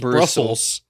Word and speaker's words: Brussels: It's not Brussels. It's Brussels. Brusseldorf.